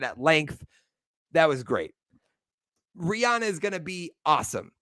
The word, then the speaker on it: Rihanna: I said the name wrong. It's Rihanna. Okay, I've seen in an interview that she goes by Rihanna and not Rihanna.